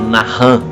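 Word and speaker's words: נחם: se pronuncia né é a gente escreve como Nathan n a c h a m 10 na chã mas na realidade se pronunciado na hum na hum no hebraico e tu visse o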